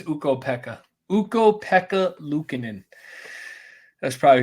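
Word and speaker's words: Ukko-Pekka: know we I go Kath how would you pronounce this eka oh yeah is it uko Pekka it's uko Pekka uko Pekka Lucan that's probably who you're talking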